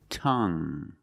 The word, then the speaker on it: tongue: The ue at the end is silent. So we pronounce it like young tongue. You have only the nasal sound. There's no G. It's just the sound M.